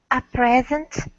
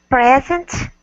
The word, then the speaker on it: present: Present as a gift, the first syllable is stressed, and present as a verb, the second.